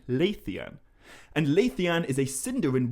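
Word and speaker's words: Leithian: very understandably be wondering why i'm pronouncing luthien so weirdly when i say the lay of lathian and the answer to that is that i'm not saying lutheran i am saying laethian and laythean is a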